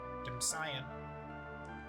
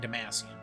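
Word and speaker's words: Damcyan: Dam damsion. Damsion. I keep saying Damasian, but it's not Damascian. There's no second hate.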